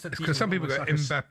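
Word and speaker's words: Mbappé: So Kylian Mbappe. It's almost like a B, basically.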